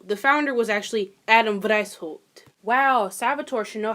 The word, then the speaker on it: Weishaupt: Adam Wienerschnitt. White. Oh, Lord. Is that German? Wow, it is German. Wow, I should probably fucking know that. So, the founder was actually Adam Weishaupt.